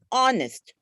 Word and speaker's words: honest: for example the word honest the word are the word honorable sorry in in all this h is silent h no h is